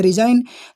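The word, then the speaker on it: resign: तो आप बिल्कुल जैसे डिजाइन वैसे रिजाइन। तो आप डी की जगह पे क्या लिख दो? आर, फिर वही SI और यहाँ पे N, और जी हमारा क्या है? साइलेंट है, तो मैं इसे लिख देता हूँ विथ रेड पेन।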